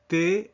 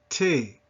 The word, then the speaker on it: thé: And du thé, listen to that, du thé, thé, not té.